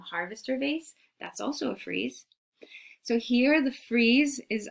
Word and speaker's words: frieze: I know, it's not freeze like cold, but it's pronounced frieze.